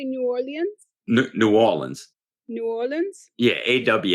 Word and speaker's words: New Orleans: you say it again how do you say New Orleans New Orleans New Orleans yeah awl awl awl